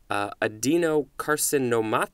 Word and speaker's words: adenocarcinoma: be fun to say adenocarcinoma adeno carcinoma I think that's a seven syllable word this is a noun circa 1889 a malignant tumor originating in glandular epithelium lots of fun words there adeno carcinoma tiss is the adjective